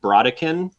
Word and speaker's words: Brodequin: Mike say it like broin um technically it's like a French word originally so I think it's probably closer to like broa something like that ah